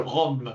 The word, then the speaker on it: RUM: So uh second talk is I never know how to pronounce it whether in French I say rim but is a cold that you get when it's too when in the winter. So it's a rum rum methodology.